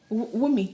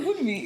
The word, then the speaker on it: Wunmi: Is it Wunmi? It's not. The end is silent. Wunmi. Yeah. I was like, wait, who's she talking about? I mean, like, Wunmi. oh my days, you call her Woodme?